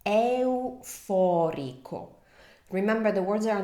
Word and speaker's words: euforico: So I know consecutive vowels can be tricky, so just remember to articulate each vowel, give them the time they deserve, as I always say. Euforico.